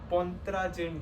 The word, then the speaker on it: Pontryagin: I had written the pronunciation. It's called Pontryagin duality.